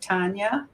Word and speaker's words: Tania: And to me, listening to your story, Tania, is that how you say it?